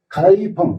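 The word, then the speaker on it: 开封: 제주도에서 위도가 거의 같은 여기에 가이펑, 개봉이라고 쓰고, 개봉이라고 쓰고, 가이펑이라고 읽는데, 북송의 수도였죠.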